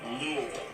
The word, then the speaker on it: Louisville: Kentucky oh you said it see it's actually pronounced Lille honestly ask anyone around here in any uh